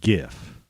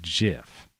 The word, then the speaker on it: GIF: And this is an animated GIF, not GIF. Like, I don't know why people say that. It's like these people, they call them GIF files. It's not a soft G when it's by itself that way, right?